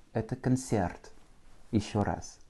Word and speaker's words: концерт: Avec un accent tonique sur le Y, ce qui rend mon O comme un petit A. Это концерт.